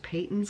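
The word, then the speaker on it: Patons: how you pronounce it I would say it's Peyton's because it's only one t in it um but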